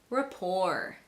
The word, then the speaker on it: rapport: So in words like ballet, rapport, gourmet, chalet, and cabaret, the T is silent.